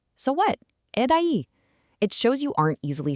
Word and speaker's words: e daí: Okay, rounding out Act 1, we have e daí, pronounced e daí.